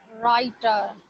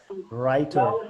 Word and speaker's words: writer: राइटर वो उसमें W silent है. There is Yes. no W sound. There is no wa sound. There is a ra sound starting with a ra. Writer.